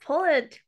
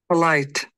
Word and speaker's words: polite: po polit Pol polite polite not polet poish it sounds like polish which means right let's hear how it is pronounced polite polite okay polite polite